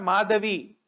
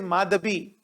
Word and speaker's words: Madhabi: please remember the name it is not madavi it is madhabi so madhabi i think